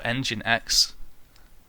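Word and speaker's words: nginx: 80 and we've got engines or engine X uh which I suppose is the correct pronunciation I'm going to keep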